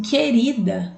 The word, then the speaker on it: querida: observar quadrado e querida vejam que enquadrado eu escuto o som do o já em querida eu não escuto som do então para perceber